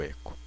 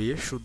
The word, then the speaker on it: echo: para vocês aqui o eco Deixa eu só comentar aqui Beleza o eco é o seguinte eu escrevo Eco ou eixo depende da pronúncia da pessoa se eu quiser imprimir